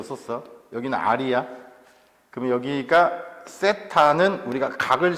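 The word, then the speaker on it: θ: 그러면 여기가 세타는 우리가 각을 쓸 때 많이 써. 물론 세타를 안 써도 돼. 이거 세타라고 읽는 거 알아? 처음 봐? 처음 봐? 오케이. 자, 이렇게 하고 이렇게 세타라고 읽어.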